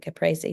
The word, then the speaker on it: Caprese: Caprese salad.